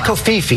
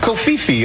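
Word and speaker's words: covfefe: I think it's Kofifi. There it is. Okay. Kofi. The V is silent. C O V F E F E. You're right, George. Kofifi.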